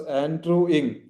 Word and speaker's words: Andrew Ng: It is pronounced as Andrew Ing.